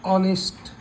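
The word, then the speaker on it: honest: गया स्वर आ गया एनवर इसको पढ़ोगे आप ऑनेस्ट उच्चारण किया मेन उच्चारण किया तो यह स्वर आ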